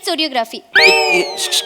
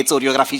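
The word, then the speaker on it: choreography: काय बोलताय चोर असते कोरियोग्राफी शिकवणार मॅडम कोरियोग्राफीला चोरियोग्राफी म्हणतात काय कोरियोग्राफीचा स्पेलिंग सीएच पासन सुरू होतं तर त्यांचं म्हण आहे तर ते च आहे मी च म्हणणार मॅडम इंग्रजीचे नियम पाळत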